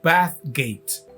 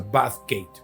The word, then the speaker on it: Bathgate: Es Bathgate. Creo que así que se pronuncia Bathgate, porque así se escribe.